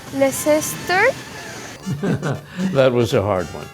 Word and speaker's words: Leicester: Leicester. Leicester. Leicester.